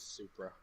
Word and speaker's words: Supra: as i said that right that may have mispronounced it's a toughness it is supra yeah perfect things anyway we try we try